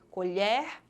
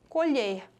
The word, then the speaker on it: colher: ação um verbo colher a pronúncia modificou pois na primeira palavra a letra s aí o com som aberto e na segunda sai é fechado colher colher logo se trata de